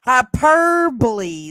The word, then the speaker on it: hyperbole: this is that's hyperbole son and you're trying hyperbole that's how you say I can never say